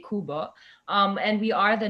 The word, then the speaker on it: Qbo: Kuba is the um Kuba is spelled as Qbo but we say kubba um and we are